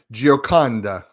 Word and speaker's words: Gioconda: I'm well known to mispronounce people's names, so this is nothing new. That's okay. It's Gioconda, so don't feel Gioconda. bad. Yeah. Gioconda.